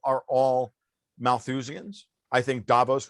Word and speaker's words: Davos: all Malthusians I think Davos rhymes with Thanos.